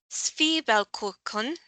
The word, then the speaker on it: Zwiebelkuchen: And once again, relying on Google here, it is pronounced Zwiebelkuchen.